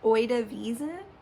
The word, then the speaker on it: Oide Wiesn: And I believe the name, like the official name, is in Bavarian, and I'm gonna pronounce it wrong, so I apologize in advance, but it's Oide Wiesn, I think.